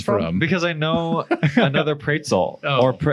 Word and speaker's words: Praetzel: Because I know another Praetzel. Did I say it right? Praetzel. Yep. Praetzel.